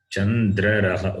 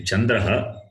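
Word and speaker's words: चन्द्रः: Chandraraha. It's a mistake. Okay. To be Chandraha.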